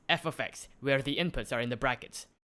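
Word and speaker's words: f(x): You'd write the function down like this, pronounced f of x, where the inputs are in the brackets.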